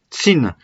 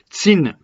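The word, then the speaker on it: Qin: ont mais la Chine d'après la prononciation de cette dynastie tsine tsine le nom de la dynastie est devenu Chine ok du premier empereur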